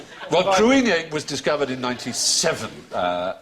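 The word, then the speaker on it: Cruithne: Kissy is the spelling exactly right. But supposedly pronounced creamy or something like that. Well, cruine was discovered in 97.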